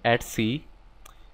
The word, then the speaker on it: etc: do that type in ETC some people also pronounce is that at C so inage do D